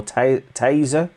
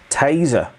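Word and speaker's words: tesa: that tim it's not tessa is it is it teza or taser is it it is spelt t-e-s-a but it is pronounced taser taser okay so there we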